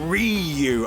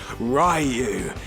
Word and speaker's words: Ryu: is the oh script i'm not saying bloody rot anymore it's bloody difficult nor am i using that stupid american pronunciation reu either i think going forward i'm going to go back to the old way ryu yeah akuma knows he